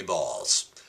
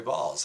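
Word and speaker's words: Baals: the name of Harry Balls. B-A-A-L-S, but it's pronounced Balls.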